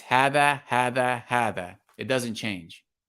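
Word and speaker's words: هذا: First, we're going to note that hada, right, is pronounced hada. It's written like hada, right? But it's pronounced hada, and this word is pronounced hadihi, okay?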